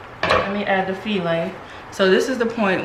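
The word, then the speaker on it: filé: You can add your filet. Okay. And you want to add and taste, because you can actually add too much of this. And even though it looks like it's file, it's pronounced filet.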